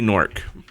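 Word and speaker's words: Gnorc: Nasty Nork. It's like Gnork, but the G is silent.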